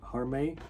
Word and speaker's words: Harmay: I think it's Harmay. This is I guess like the more English pronunciation. I don't know what the Chinese pronunciation is.